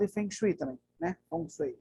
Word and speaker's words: Feng Shui: Feng Shui é a pronúncia.